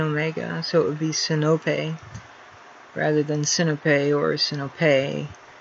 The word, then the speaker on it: Sinope: I say, the classical Greek pronunciation is Sinope. He says it's pronounced Snoopy, which it obviously is not.